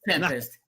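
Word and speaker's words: 7empest: It's Tempest. It's It's Tempest. You're good. Tempest. So Marky Graves says Tempest.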